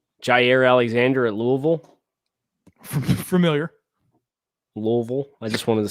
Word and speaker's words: Louisville: Louisville. I just wanted to say that. I'm familiar. It's like you can't use your lips at all when you say it if you want to say it right.